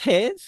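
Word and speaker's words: Hars: how you pronounce this this one is this pronounced ha yeah so oh right I've been pronouncing it hares hares I didn't know I had no idea yeah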